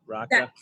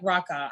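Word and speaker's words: Rocha: laoka or Rocka singer I think like raqa I think I mean I don't know it sounds sexy either way like Roa or Raa yeah I think that's how you say it you gotta roll the r gota roll the R I will say this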